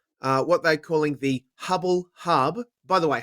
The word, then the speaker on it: Hubbl: no last week as Hubble now it's available in two formats uh what they're calling the Hubble Hub by the way Hubble is spelled HBL because the current they